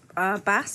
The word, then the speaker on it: Bas: It's going to be the rapper Bass, or how do you pronounce it? Bass, I say.